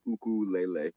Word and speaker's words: ukulele: so it's not pronounced ukulele okay it my sister lives in Hawaii the Hawaiians say uku Lele is how you say it so then short for